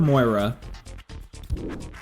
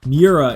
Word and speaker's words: Miura: you pronounce it or is it like miura and that oh no that's that's 200 grand so maybe we don't maybe we just go with a c-class what uh what are good c-class options should we start getting into exotics now we've got the esprit we've got the 350z nismo miura miura is how you pronounce it oh i was doing the u and the i backwards um it's time for